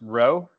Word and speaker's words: Roe: helpful he everyone yeah my last name is pronounced row Roe yeah and uh yeah